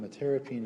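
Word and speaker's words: metyrapone: Metirapine, no, it's metirapine. Metirapine is how it's pronounced.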